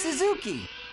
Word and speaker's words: Suzuki: Hey, it's Suzuki. Hey, it's an actual Japanese pronunciation that's correct.